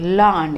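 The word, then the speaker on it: Laugharne: and finally they settled in the place called lan it's pronounced as learned but it's pronoun it is spelt l-a-u-g-h-a-r-n-e land it is a seaside town in wales and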